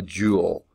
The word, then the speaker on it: Joule: woman's best friend a Joule okay but it's not spelled like a jewel it's about jou le but it's pronounced jewel jou le named after